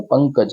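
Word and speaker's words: पङ्कज: पंकज अंकज तो ये जो अंक का जो उच्चारण होता है तो ये उस रूप में इसको यूज़ किया जाता है तो हम इसलिए कह रहे हैं इसको इसको बोलेंगे पंकज तो ये पंकज तो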